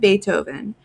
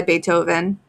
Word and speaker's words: Beethoven: He mentioned Beethoven. She had read in the library about that musician. His name was pronounced with an A and spelled with a double E.